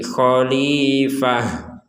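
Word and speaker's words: خليفة: ada fathatain maka kita berhentinya membacanya itu dengan huruf ha jadi Kholifah huruf ha jadi bukan huruf ta lagi karena kita berhenti Kholifah tapi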